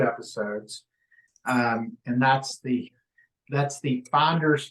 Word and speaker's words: Fynderz: So we've done 2 episodes, and that's the Finders Flippers podcast, but it's spelled FYNDERZ, and then Flippers is FLYPPERZ.